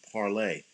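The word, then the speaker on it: Parler: more people like it it's pronounced parlay oh alright but it's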